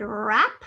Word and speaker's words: wrap: the prefix on the base word wrap which starts with that silent w but it's still a